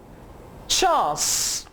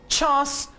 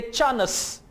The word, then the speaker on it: chance: ये British pronunciation है। British English में आप इसे चांस प्रोनाउंस करेंगे और अमेरिकन इंग्लिश में आप इसे चैंस, चैंस प्रोनाउंस करेंगे। और पाकिस्तानी पंजाबी स्टाइल में आप इसे कहेंगे चानस, चानस।